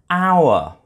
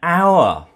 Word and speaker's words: hour: our h0 you are it begins with a consonant letter but it's pronounced like a vowel sound our so in this case